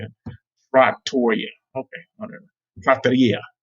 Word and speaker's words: trattoria: trattoria, I guess that's how you say it, trattoria. Okay, whatever. Trattoria. Trattoria.